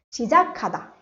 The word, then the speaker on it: 시작하다: When these two consonants come together, I'll get a k sound. 시작하다 to start.